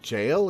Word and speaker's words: gaol: in admit the admiration gaol is pronounced jail it's the original spelling huh instead i find